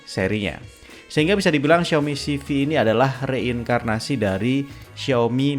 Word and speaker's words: Civi: yang bawain acara perilisannya pelafalan yang benar CV ya bukan saifi Xiaomi Sifilis secara garis